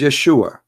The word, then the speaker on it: Yeshua: pronounce the correct word the correct word in the Hebrew is Yeshua as simple as that